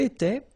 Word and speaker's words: étais: Remember, here we've got accent aigu, so it goes like et, alright?